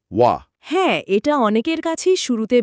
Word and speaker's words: は: আংটা হিসেবে কাজ করে, তখন জাদুকরীভাবে এর উচ্চারণ পাল্টে গিয়ে হয়ে যায় ওয়া।